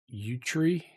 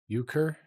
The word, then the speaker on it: euchre: How do you even pronounce that? Utri? Utri? Euchre?